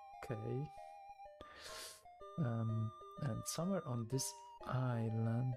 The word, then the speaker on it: Qoorik: What was the pronunciation? It's Qoorik.